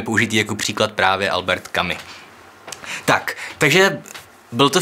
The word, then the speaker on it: Camus: Hnedka na začátek ujasním, hledal jsem si to a skutečně se to vyslovuje Camus v prvním pádě, ale Camise ve druhém pádě.